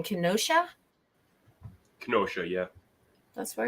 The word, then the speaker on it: Kenosha: can how do you say the name Kenosha Kenosha yeah That's Where It's At You never heard